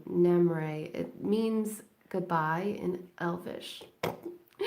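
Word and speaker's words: Namerae: if you are interested the handle is Namur a which is spelled name and n like Nancy AME name and then r AE which is my nickname so no more a it means goodbye in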